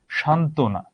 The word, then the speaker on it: সান্ত্বনা: সান্ত্বনা, অলরেডি একটা যুক্ত বর্ণ আছে। এটাকে আমরা কি বলে থাকি? এখানে বফলার কোনো প্রকার উচ্চারণ হয় না, এখানে বফলার কোনো প্রকার উচ্চারণ হয় না।